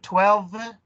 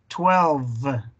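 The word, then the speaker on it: twelve: Ok, 11, 12, ahí es donde se tiene que oír el V, como les mencioné. 12, 12.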